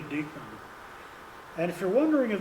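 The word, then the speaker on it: Dyckman: And one late casualty was another Westchester guide name of Brahma Deakman or or Dykeman people tend to pronounce it should be Deakman.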